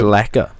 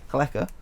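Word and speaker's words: Bjelica: I think it's Lecker. Lecker. I'm sure the B is silent. Lecker. Sure I don't know my pronunciation, but I'll take it. Nenad Blecker.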